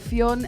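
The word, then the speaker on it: Fyun: the three boys he goes by the name of fion and his name is spelt f-y-u-n with a funny why this one is compound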